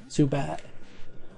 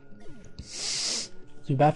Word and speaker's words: Zubat: It's my Dalton accent showing because I don't pronounce my T's. Zubat. Zubat. Like you use it to like the back of your throat to cut off. You Zubat. And it gives an impression of a T.